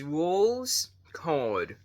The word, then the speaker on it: Rouxls Kaard: So yeah, if you guys don't know how to pronounce Rouxls' name, he's literally named after the Roll card, like a deck of cards. So it's Rouxls Kaard.